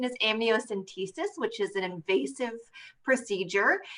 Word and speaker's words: amniocentesis: it's a great question i uh so the pronunciation is amniocentesis which is an invasive procedure um but it